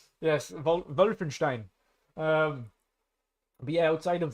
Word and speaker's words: Wolfenstein: wolf WF w Stein Wolfenstein wenin yes I know with a V the only word I'm going to pronounce during the podcast correctly right yes wulfenstein um but yeah outside